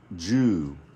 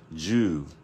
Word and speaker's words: 銃: okay and it's pronounced Jew so I put a little Dash on top of the U to let you know that you have to carry this sound just a bit so it's not Jew